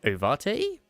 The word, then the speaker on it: ovate: I need I don't know how to say how do you say that? Overt. Ah, okay. So, it's overt. Okay. How to pronounce it? Ovate. It's ovate. Okay.